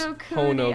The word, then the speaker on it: Honokuni: Hone, as in to hone your skills. Honokuni. I know. I don't know what's wrong. Like Santa Claus. Heckin' ho ho ho, Honokuni.